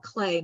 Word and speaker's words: Klee: I guess he's called Clay, not Klee, but I always mispronounce it.